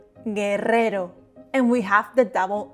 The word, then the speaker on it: guerrero: Guerrero. G plus U followed by E or I are pronounced ge, gi, guerrero.